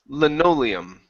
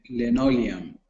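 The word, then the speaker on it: linoleum: nice job okay right here this word is pronounced lenium L lenium okay good good and this one here is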